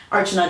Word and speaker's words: Archana: Archana. How do you pronounce Archana?